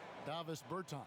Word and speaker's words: Davis Bertans: Oh, well, now, at this point in my life, it's Davis Bertans. Is that how you say his name? Yeah. Davis Bertans.